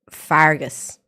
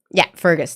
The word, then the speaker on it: Fergus: What you got there is Fargus. F-E-R-G-U-S. Discord. Yeah, Fergus. That's right.